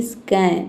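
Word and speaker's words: scan: जैसे कि स्कैन तो देखिए स्क का साउंड आ रहा है। ठीक है? यहां पे एस को आधा सा पढ़े सी एन कैन होता है ना? सी एन कैन तो स्कैन हो गया यहां पे।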